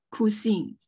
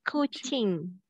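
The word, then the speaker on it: kucing: Saya ada se-e-kor kusing. Not kusing, not kusing. How to pronounce C? Kusi. A cookie. No. K-k-k. C is not k. What is it? Cha chi. Chi. Yes, kuching.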